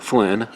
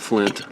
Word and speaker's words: Flynn: So, that is in like Flynn. Not Flint. Like Flynn. Correct way to say it.